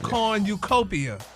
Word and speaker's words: cornucopia: corn new not quite you put the accent in the wrong place try it again kopia